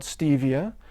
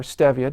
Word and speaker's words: stevia: And meanwhile, there's a perfectly natural alternative sweetener called stevia, or stevia, depending on how you pronounce it, that is derived from the sweet leaf herb native to Central and South America.